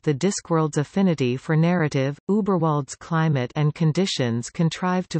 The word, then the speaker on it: Überwald: Überwald, German pronunciation, Weibewald, is a region located near the foot of the Ramtops, farther from Ankh-Morpork than Lancre is.